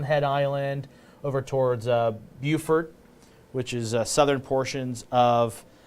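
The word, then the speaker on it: Beaufort: with Savannah Hilton Head Island over towards uh Buford which is Southern portions of uh South Carolina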